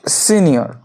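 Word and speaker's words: Signor: স্পেলিংটা হবে এস আই জি এন ও আর উচ্চারণটা হবে সিনিয়র সিনিয়র ম্যাসকিনে আছে না ফেমিনা আছে এটি আছে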